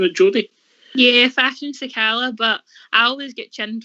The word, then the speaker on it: Fashion Sakala: Are we agreeing how you pronouncing it, Jodie? Yeah, Fashion Sakala, but I always get chinned for the way I pronounce things, so I wouldn't take my advice.